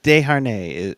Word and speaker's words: Desharnais: We keep Desjardins. Desjardins. Sorry, I'm not really sure what the correct pronunciation is. Desharnais is what I've been Desjardins.